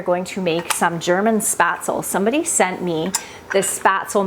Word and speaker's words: Spätzle: I just did some research about, I don't know if I'm pronouncing it exactly right, but Spätzle is the way that I think I'm supposed to pronounce it.